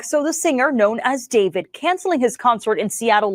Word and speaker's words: D4vd: singer who goes by the name David. It's spelled with a four.